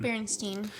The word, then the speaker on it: Berenstain: The lovable cartoon bear family actually spelled their last name with an A. The Berenstain. It looks like stain, but they might have actually pronounced it Steen.